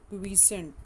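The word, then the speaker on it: quiescent: G0 phase is also known as the क्वीसेंट stage. ठीक है, क्वाइसेंट stage इसको भी बोलते हैं, कुछ क्वीसेंट बोलते हैं, जो भी प्रोनाउंसिएशन आपको ठीक लगे.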